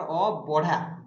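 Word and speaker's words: ଅବଢ଼ା: अभड़ा रे आपनकर अबढ़ा ब रहिबो उच्चारण भ रहिबोनि अभड़ा आमे जो कहउछन्ती अभड़ा नुहे एटा होछि अबढ़ा ओके।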